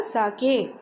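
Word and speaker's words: sake: हैड ए कप ऑफ साके। देखो इसका pronunciation सेक नहीं होगा, ऐसे कहीं सेक नहीं है, साके होगा।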